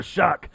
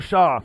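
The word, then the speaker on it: Shough: Yeah, Tyler Shuck. Even though it looks like Tyler Shaw. Isn't that crazy how it's pronounced Shuck? Shuck rhymes with duck. I don't know how the fuck you get Shuck out of S-H-O-U-G-H, but whatever.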